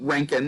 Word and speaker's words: Roentgen: So the Roentgen, and you pronounce it Roentgen, this is actually named after the man who discovered X-rays, Wilhelm Roentgen.